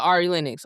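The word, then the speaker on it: Ari Lennox: Uh, Ari Linux.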